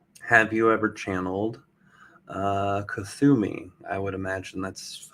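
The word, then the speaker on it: Kuthumi: frequency for example have you ever channeled uh kusumi i would imagine that's how it's pronounced k-u-t-h-u-m-i kazumi it's pronounced katumi and yes um i have channeled katumi in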